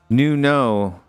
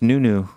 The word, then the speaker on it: Nuno: Cody Mack says, I've heard people say it pronounced Nuno and not Neo. In Korean, it's pronounced Nunu.